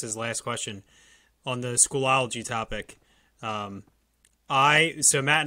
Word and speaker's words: Schoology: into the lms and we use schoology i pronounced it schoolology probably a hundred times over the course of